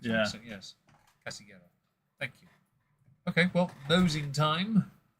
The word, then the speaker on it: Casillero: I think the two L's become wide, I think. Yeah. So yes. Casillero.